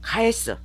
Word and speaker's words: 帰す: 거 의미로 보시는 것이 맞습니다 같은 한자인데 다른 발음 이거는 지금 가에르는 자동사잖아요 한 쌍으로 기억하실 가에스 타동사입니다 JLPT n2급 단어예요 가에르는 n5급 단어인데 같은